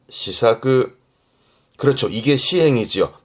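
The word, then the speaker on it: 施策: 발음은 시사그, 시사그.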